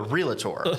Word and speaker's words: realtor: board of realtors, and you have to say it like that because it is very fancy and proper. Oh, we don't go to the docator, and we don't ever sign up a realtor. It's realtor.